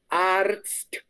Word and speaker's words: Arzt: La TZ es un poquito difícil. La ZT es un poquito difícil. El resto, perfecto, perfecto. Que se escuche más la RZT, que es un... Es una catástrofe. Pronunciar esa vaina es una catástrofe. Es como Guantánamo. Ese es el Guantánamo en la pronunciación, ¿no? Entonces se dice Arzt.